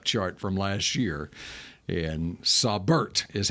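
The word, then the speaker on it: Saubert: r t you according to the Denver Broncos pronunciation guide for him sabert sabert yeah that sounds smart Eric sabert sabert it's it's you I bet it's I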